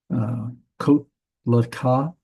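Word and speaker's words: קָטְלְךָ: Notice this is, the accent's going to be over here on the end. That means this is a closed, unaccented syllable. That means this is the O vowel, the comments there. So it's kot laka, to kill you.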